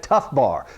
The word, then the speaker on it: TFBAR: I call that tough bar. So everybody take a second and say tough bar. Okay? I know it's a weird word, and it's spelled weird too, but TFBAR.